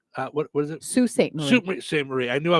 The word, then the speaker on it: Sault Ste. Marie: Susan says Clyde's Drive-In in St. Marie. What is it? Sault Ste. Marie.